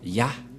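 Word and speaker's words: יה: vais mettre en bas, sa prononciation se lit I et l'autre se lit AH. Je vais expliquer simplement. Et lorsque on va regrouper à la normale, ça se transforme en Ya, que nous allons écrire ici, Ya.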